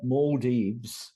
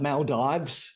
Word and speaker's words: Maldives: Maldives is the local pronunciation. Us Aussies that talk about Maldives, well, I learnt the local pronunciation.